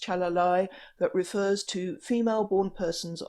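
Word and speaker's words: calalai: One or two of them only mean people born with ambiguous genitalia, and I can see one in there, it's pronounced chalalai, that refers to female-born persons of the Bugis tribe, which is one of the ethnic groups in South Sulawesi in Indonesia.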